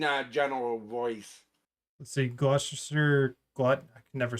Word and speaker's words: Gloucester: Um I think if it's anything like how it's how it's pronounced in the county I was born in in New Jersey, it's Gloucester.